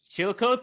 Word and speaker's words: Chillicothe: Chillicothe. Chillicothe, you got it. Yeah, Chillicothe, Ohio.